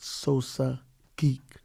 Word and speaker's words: Sosa Geek: notification bell select all my man i'm gonna pronounce this right sosa geek correct yeah yeah you did it right brooklyn